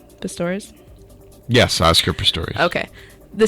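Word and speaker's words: Pistorius: enter ptor persecution wants 10 years did I pronounce his name right pastores yes Oscar ptor okay the state prosecution requested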